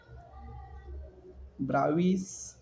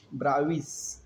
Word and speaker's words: Bravais: Okay, in the next class, that is Bravais, actually it is a Bravais, but the S is silent in this. Bravais, it's the name of the scientist, right?